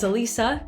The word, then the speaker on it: Elisa: Hey guys, it's Elisa, not Alyssa, and today we're going to be talking about how to pronounce Italian food names.